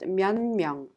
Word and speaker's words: 몇 명: The 디귿 in 몇 is affected by the nasal sound 미음, and it becomes 니은 and is pronounced 면명.